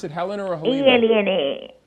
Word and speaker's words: Elena: E-L-E-N-A. No, the H is silent.